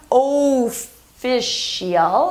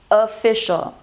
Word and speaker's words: official: It's not official, it's official. Official.